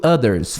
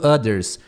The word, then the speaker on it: others: ou um aviso to others others é outros tá lembra de pronunciar não a maioria das pessoas falam others others tenta falar Tipo assim sonzinho th ali e não todo mundo